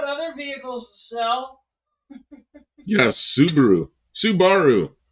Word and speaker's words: Subaru: in the late 60s they called him sabaru the Subaru star and the Subaru 360 and then all of a sudden they were Subaru and I thought they were kidding I thought somebody mispronounced it but no no they were Subarus they mispronounced it first hope the wipers isn't